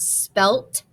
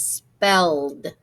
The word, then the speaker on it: spelled: Okay, because remember that ed can say ed, d, or t. So it's not spelt and it's not spelled, it's spelled. Okay, she spelled my name correctly.